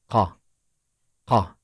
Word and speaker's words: ق: name is off and its sound is Ka it is similar somehow to Ka listen again ah there is similarity in the pronunciation right but the shape is